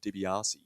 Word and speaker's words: De Biase: Now, I think you've been saying Roland's name wrong all season. When I I cast my mind back to when we had Jamie Moller, well, I think it's Roland De Biase.